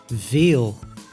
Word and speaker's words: veel: v v like in Veil which means many in Dutch the V is pronounced quite close to the f Way the letter way